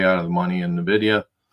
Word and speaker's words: Nvidia: to laugh all right let's see if we can do n video nvda Nvidia is probably a better pronunciation all right so in